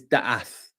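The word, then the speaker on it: דעת: have many, many labels, it's called da'ath or da'eth. It's spelled a few different ways, D-A-A-T or D-A, you know, it's spelled a few ways, but it's da'ath.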